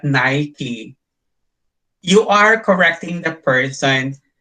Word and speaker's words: Nike: say the correct pronounce the correct pronunciation of nike is not Nike But nikee you are correcting the